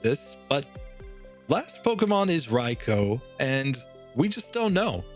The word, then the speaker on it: Raikou: Pronouncing it in Japanese, it would be Raikou, because OU in Japanese, you know, phonetics, and when you're writing Romaji in Japan, the U is just extending the O sound. So it's the same with an E and an I. It's just extending the A sound that an E makes in Japanese. So I'm just pronouncing it like Japanese, Raikou.